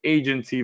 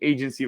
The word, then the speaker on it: Aigency: Okay, I'm introducing you today to Aigency Valet. The I is silent. All right, it's just there for pretty much visual aesthetics.